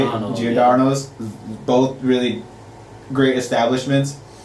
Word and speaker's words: Giordano's: Giordano's.